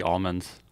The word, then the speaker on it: almond: just a northern californis all the farmers call it that for some reason and they look at you weird if you say almond like they look at you weird like you're an outsider for saying it right well either way